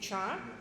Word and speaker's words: char: So the name so the way to pronounce it is char.